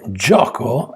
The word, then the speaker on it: gioco: For gioco, it is j, o, k, o.